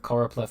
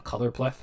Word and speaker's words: choropleth: Easy way to remember choropleth map, what it is. Think choropleth, think colors. Because I always mispronounce it and say a colorpleth map. So it's easy to remember if you mispronounce it.